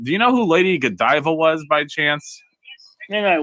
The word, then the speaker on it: Godiva: i i get that but you keep saying godeva and it's pronounced godiva michelle it's cadaver chocolates they're very good they're